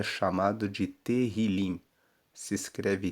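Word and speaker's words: תהילים: No hebraico, o livro de Salmos é chamado de terrilim. Se escreve T E H I L I M e Terrilim significa louvores.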